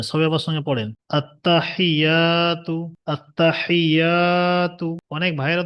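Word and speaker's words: التحيات: আত্তাহিয়াতু আততাহিয়াতু। অনেক ভাইয়েরা তো মুখস্ত আছে কিন্তু টান গন্না অক্ষরগুলো উচ্চারণটা ঠিক করে নেন এখান থেকে আত্তাহিয়াতু এখানে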